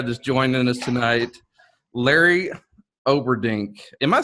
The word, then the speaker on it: Olberding: It's Olberding, just exactly. If you go back to your second grade phonics, uh, it's it's just and really it's the only thing. A lot of people don't like pronounce the L after the O, and I've actually seen